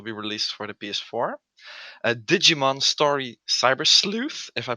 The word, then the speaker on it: Digimon Story Cyber Sleuth: Digimon Story Cyber Sleuth, if I pronounced that correctly.